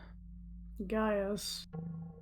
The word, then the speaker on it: Gaius: Gaius. Interesting. That is spelled Gaus.